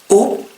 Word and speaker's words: eau: Par exemple, le mot eau, water, eau, E-A-U, ça se prononce comme un O normal.